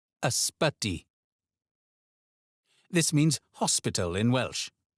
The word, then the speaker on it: Ysbyty: Ysbyty. Ysbyty.